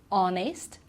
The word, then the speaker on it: honest: first one is our okay so we don't pronounce the H on ax honest and yeah as well now the other one